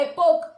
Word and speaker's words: epoch: Here, we have to pronounce this word as a epoch. H is a silent word. H plays a silent word, so we have to call epoch.